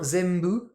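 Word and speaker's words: 全部: hein, zenbu, et bah comme ça se prononce plus ou moins zembu, hein, zembu, on entend plus un phonétiquement, un m.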